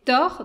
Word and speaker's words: Taur: Puisque je le disais en ouverture, donc toi, tu es auteur, compositeur, producteur du projet Thor. Donc, Thor, ça s'écrit T-A-U-R.